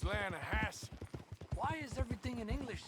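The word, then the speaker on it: Lannahechee: The other day I rode down to the Lanahei River. I caught some beautiful steelhead drought. You mean the Lahassy River?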